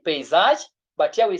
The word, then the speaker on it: paysage: So we say this word is now read as paysage. Pay, not pa, paysage. We have a country. You see this word is read as pay. Pay, pay, pay, pay, pay.